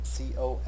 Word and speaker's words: col legno: The Italian phrase col legno, C-O-L-L-E-G-N-O, pronounced col legno, is written into the violin parts toward the end of this movement, and it literally means with the wood.